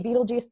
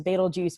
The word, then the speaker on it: Betelgeuse: So it's spelled differently than Beetlejuice the movie, but a lot of people prefer to say Beetlejuice just because it's the simplest pronunciation, and I tweak it a little into Betelgeuse, but it very much becomes personal preference.